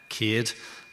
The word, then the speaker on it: Céad: So, the name uh Cade um rhymes with maid if anyone's wondering how to pronounce it. Cade.